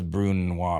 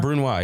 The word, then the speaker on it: brunoise: would guess who is hunting i'm going to mispronounce everything again what does bruno mean you already sauce that uses alcohol to be burnt down what is how do i say it so brunoise yeah you nailed it um you mentioned it